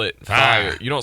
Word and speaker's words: fye: But you don't spell it fire. You don't spell it fire. You just say fi, like that's fi, but you can't say fi. That's like pie with an F.